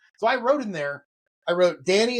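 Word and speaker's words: Dani: So I wrote in there, Danny is pronounced D-A-N-N-Y.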